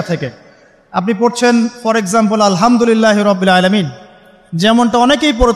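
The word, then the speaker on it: الحمد لله: আলহামদুলিল্লাহ ভালো আছি তো আলহামদুলিল্লাহ না বলে সে বলেছে আলহামদুলিল্লাহ ওই যে হা এর উচ্চারণ পরিবর্তন হয়ে গেছে এই কারণে অর্থ পরিবর্তন হয়ে দাঁড়াবে যে সমস্ত নিন্দা আল্লাহর জন্যে যিনি জগৎসমূহের রব আমার কথা কি বুঝতে পারছেন শুধু হা এর মাখরাজ ভুল হওয়ার কারণে এই সমস্যা হলো তাই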